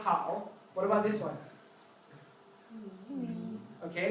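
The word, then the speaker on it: 好: So this one is pronounced how.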